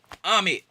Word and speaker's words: Amit: Tag because he say the way to remember how to say his name, say if you playing a game of tag, if I come and tag you, who's it? Amit.